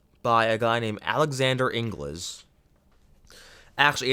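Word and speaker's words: Inglis: a guy named alexander ingles actually it's spelled english i think it's pronounced ingles i think it's pronounced angles but it's spelled like english but isn't that isn't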